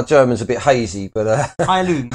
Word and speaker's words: Heilung: So this is Heilung. That's how you pronounce it properly. It's German, by the sounds of it.